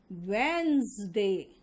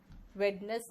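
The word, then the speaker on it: Wednesday: Then poison, cousin, wizard, and इसका pronunciation होगा वेंसडे। Veins, वेडनेस नहीं, वेंस।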